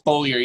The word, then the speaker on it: Bollier: It's Bollier, yeah, with the emphasis on the bowl.